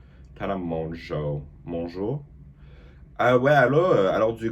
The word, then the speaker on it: Tana Mongeau: Tana Mongeau. Mongeau? Ah ouais, alors du coup c'est Tana Mongeau. Tu vois? Sorry. Because people on TikTok often say I look like Khloe Kardashian, Tana Mongeau, or Kendall Jenner.